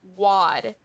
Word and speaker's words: wad: So this word sounds a little funny, and you would think it's pronounced wad, but it's not. It's wad.